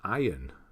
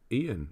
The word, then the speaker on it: Ian: saying my name right everyone says iron iron but Ian that's how you say Ian who says iron is